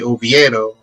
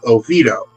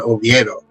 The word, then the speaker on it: Oviedo: pronounced the name correctly oviedo rather than the americanized way of oviedo a recent campaign advocates for honoring allen's original concept for the town's moniker uh by returning to the correct spanish pronunciation oviedo look at that oh